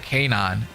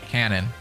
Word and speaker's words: Kanon: I say Kanon because one of my friends' name, it's literally spelled exactly the same, but they pronounce it Kanon instead of Canon.